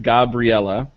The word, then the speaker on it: Gabriella: Got one here that says, it's pronounced Gabriella, so I apologize. I was going like full on Gabriel and then just adding an la.